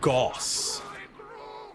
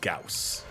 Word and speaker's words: Gauss: the de staff because they say Goss I mean it is a gaussian blur but the German word that it is that it literally is is Gauss and also as far